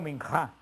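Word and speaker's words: מנחה: Este sacrificio de oblación o de ofrenda se pronuncia en hebreo minjá, el sacrificio de minjá, y era un sacrificio no sangriento, a diferencia del holocausto, que era sangriento.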